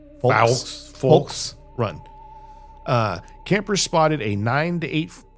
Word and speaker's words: Fulks Run: The most recent account I've found was from 2015 from, I gotta pronounce this L here. Oh, wow. Folks Run, Virginia. Okay. There's they're FULKS Run. Folks Run.